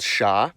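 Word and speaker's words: ш: It's called sha. It's used in every cerillic script language. And as you can guess, it sounds like shh.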